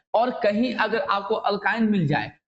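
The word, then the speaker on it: alkyne: अल्काइन का।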